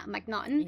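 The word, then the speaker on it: Macnaghten: McNaughton? Yeah, McNaughton.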